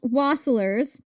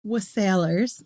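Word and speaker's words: wassailers: In centuries past, waslers was sailors.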